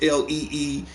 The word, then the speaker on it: Lee: Jet Li, and by the way, their pronunciation is different because Bruce is Lee, Jet is Li.